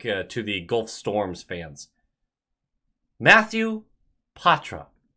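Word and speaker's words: Poitras: Matthew Patra. That's Patra. That's how he pronounced it.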